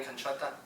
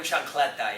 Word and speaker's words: chancleta: The morning canchota. Is that your pronunciation? The morning chancleta, yes.